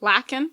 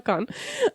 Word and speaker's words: Lacan: I know I learned about Lucan, “Lucahn”, “Lucawn”, pecan, I don’t know! Merri Pecan! Missy I learned about him- Merri Okay here- Missy -in English, but I don’t remember how to pronounce it. Merri “Lack-in” Missy No way!